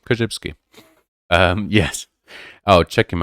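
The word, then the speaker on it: Korzybski: b s k i just like it sounds koshibsky um yes oh check him out and i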